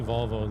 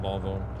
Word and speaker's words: Volvo: I say Volvo the American way. Straight out Volvo. I think the Swedish pronounce the O's a little bit stronger, like Volvo.